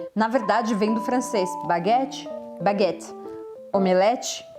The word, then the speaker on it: baguette: A pronúncia sempre aqui é diferente. Baguette, baguette.